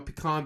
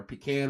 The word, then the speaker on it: pecan: I'm a pecan pie, or pecan, however you want to pronounce it.